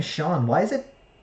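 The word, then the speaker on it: Sean: that speaking the name Shawn why is it why is it spelled SE EAN isn't that should that be pronounced scene rhymes it's mean what mean you know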